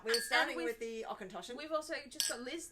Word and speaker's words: Auchentoshan: I think it's actually pronounced how it looks, really.